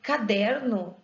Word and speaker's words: caderno: acordo com a regra tão caderno tem uma sílaba tônica eu falo caderno eu falo caderno ou eu falo caderno eu falo caderno então der é a sílaba tônica dessa palavra ela só não é